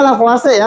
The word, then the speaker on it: Lavoisier: Itu dibacanya Lavoisier ya. Walaupun tulisannya Lavoisier, tapi dibacanya di kita itu Lavoisier.